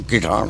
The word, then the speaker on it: किठाना: गांव है जी, मेरे गांव का शुरुआत का प्रोनाउंसिएशन में बदलता गया, हम बदलता रहा, फिर कठियाना, उसके बाद इब शुद्ध है किठाना।